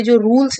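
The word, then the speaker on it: czar: लेकिन आखिरी दो लाइन में स्पीकर कहती हैं कि अब वो अपनी इच्छाएं पूरा करेंगी क्योंकि वो एक जार बन गई हैं। तो यहां पे सी साइलेंट होता है।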